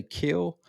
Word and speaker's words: Kiln: his hometown is called, I think they say Kill, but it's spelled Kiln.